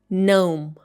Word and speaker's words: gnome: It should be pronounced like gnome.